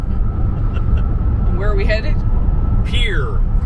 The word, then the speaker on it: Pierre: Pierre. For some reason they pronounce it Pierre, but it's Pierre. It's spelled Pierre.